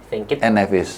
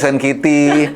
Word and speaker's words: Saint Kitts and Nevis: Bukan Hello Kitty ya, beda. Saint Kitts and Nevis. Karena bacanya, karena waktu pertama kali kita dapat agenda melawan mereka, itu kayak berapa kali-kali sampai orang tuh bener ngomongnya. Ada yang Saint Kitty, ada yang Saint Kitty.